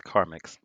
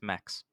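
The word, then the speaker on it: Carmex: It's Carmix. No, it's not. You fucked up again. It's not mix. It's mex.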